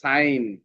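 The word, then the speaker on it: sign: ন তারপরেরটা কি হল সাইলেন্ট হয়ে যাবে তাহলে সাইন এখানে জি সাইলেন্ট হয়ে যাবে আই হাই তারপর এখানে একটা হোমওয়ার্ক দেয়া আছে।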